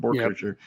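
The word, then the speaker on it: Boerkircher: Borkircher. Yep.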